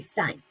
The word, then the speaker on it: sign: For example, when something goes to nothing, like the letter G in the word sign, because we don't pronounce the letter G, we say sign.